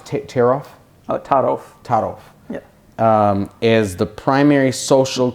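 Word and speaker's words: Taarof: your um you say that how do you pronounce tear off oh Taro Taro is the primary social cue um for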